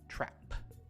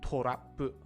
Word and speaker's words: trap: That one is, in English, trap. Trap. Not torapu, right? Trap. Torapu, trap. Again, we have that open A sound.